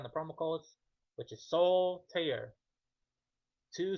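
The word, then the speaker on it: Soltaire: say that It's like soul tear. Soul like my soul right here and tear like a tear of paper. Soul tear.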